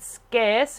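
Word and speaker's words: Scearce: an author called leader scarce ask scarce now I I used to call I used to pronounce her name incorrectly but I've since learned it scarce leader scarce she's a singing voice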